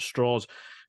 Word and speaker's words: Strauss: more from uh Luis straws uh like the the name is spelled Strauss but he points out it's a southern pronunciation with straws uh played by Robert